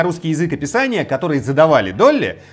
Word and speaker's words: DALL-E: В 21 году стартовал проект DALL-E, произносится как Долли, вот как та самая овечка.